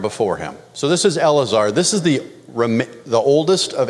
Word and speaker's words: Eleazar: There's 3 syllables in this word. Aaron's son is not named Eleazar. It's a different word in Hebrew. So this is Eleazar.